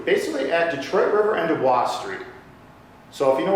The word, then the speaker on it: Du Bois: because it's Du Bois. I Du Bois, yeah. But I say Dubois, because I like to sound French. But thank you. No, I'm from... He's actually pronouncing it correctly, we pronounce it wrong, that's right, yeah.